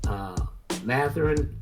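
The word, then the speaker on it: Mathurin: Matherin, did I say his name right?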